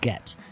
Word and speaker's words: Guentner: The U is silent, and Germans just like to have too many letters. Yeah, yeah. Both N's, because there's Guentner. Right. You pronounce them both. Yeah. It's a double N-der.